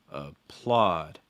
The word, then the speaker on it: applaud: a part a part in that last word applaud applaud so again advice a part applaud let's